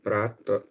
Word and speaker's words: prata: Y platas, prata or prata with an R, no un L.